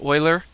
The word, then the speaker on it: Euler: after this man named Euler again as a Swiss so it's not pronounced the way you might think pronounced Euler and you know it's